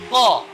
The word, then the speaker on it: ق: Perlu kita ketahui bersama, ko ini adalah memiliki sifat huruf yang istilah yang tebal. Maka dia hurufnya agak tebal ya. Bukan agak tapi tebal.